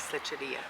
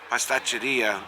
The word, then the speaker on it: pasticceria: Pasticceria. Pasticceria, In pastry that shop in this area over here, and the Finicaros.